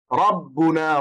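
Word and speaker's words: رَبُّنَا: You have to pronounce the ra, it will be thick. Rabbuna ra ra ra.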